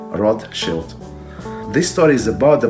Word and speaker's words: Rothschild: yish rotus shield and together Roth Shield it's right in English they we pronounce Roth child but it's not correct rot Shield this story is about